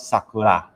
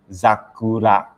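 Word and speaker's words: ざくら: If you have noticed, here you do not pronounce Sakura. Here the pronunciation is Zakura.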